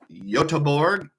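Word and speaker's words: Göteborg: Sweden which is pronounced yorg it's one of those towns where they have an English spelling and a Swedish spelling so I was told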